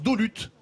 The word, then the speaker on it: Dolus: La ville de Dolus se prononce Dolut.